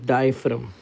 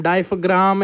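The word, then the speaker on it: diaphragm: The muscles of द डायफ्रम. Okay. डायफ्रम, डायफ्राम ऐसे गंदी गंदी प्रोनाउंसिएशन नहीं करना, इट इज डायफ्रम, ठीक है. जी इज साइलेंट हियर.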